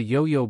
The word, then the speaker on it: 有: In this sentence, we use a yo-yo ball to remember the pronunciation of the word yo, yo, which means to have or there is slash r.